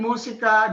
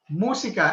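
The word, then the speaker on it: música: down okay and again musica music is musica everybody saying musica musa take note of the accent so english is sick but filipino it's not musica it's moon okay big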